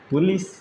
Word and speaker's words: police: कई जगह पढ़ा जाता है POLICE, लिखा तो जाता है पुलिस, हम लोग पढ़ते हैं क्या? पुलिस, इसे ही पढ़ते हैं ना। तो यहाँ पे अगर देखा जाए ओ को तो ऊ पढ़ रहे हैं, समझ में आ रहा है?